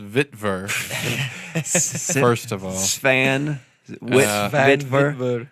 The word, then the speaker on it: Witwer: It's pronounced Vitver.